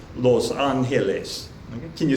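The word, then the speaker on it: Los Ángeles: Some of them are going to be a little bit different than the English pronunciation, such as Los Angeles in Spanish, Los Angeles.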